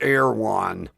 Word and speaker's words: Erewhon: It's spelled real goofy. E-H-R something, pronounced Erewhon.